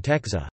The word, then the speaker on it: tęcza: For example, in dab, oak, is pronounced m, and in Texa, rainbow, is pronounced n.